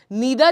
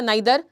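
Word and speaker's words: neither: for example, दो words हमेशा साथ में होंगे, आइदर या ईदर जो आप प्रोनाउंस करते हैं, ईदर के साथ और लगता है, नीदर या नाइदर, नीदर के साथ नॉर लगता है, नॉट ओनली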